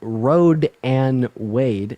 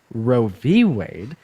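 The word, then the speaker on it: Roe v. Wade: here first of all it's not called Road and Wade it's called Ro v Wade and pronouncing it wrong but just watch interview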